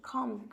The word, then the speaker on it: calm: সি, এ, LM কি উচ্চারণ করি? calm, calm down, শান্ত হও।